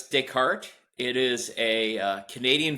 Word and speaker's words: Descartes: Yeah, it's Decart. It is a uh Canadian firm and so you've got that French pronunciation.